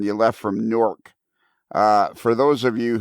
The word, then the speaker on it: Newark: area when he says newark he me he's saying newark uh new jersey is what he's written no it's it's nork it's it's pronounced n-o-r-k norc well whatever it is